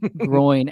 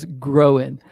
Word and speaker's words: groin: I will take that every day of the week over your horrific and offensive pronunciation of groin as growing.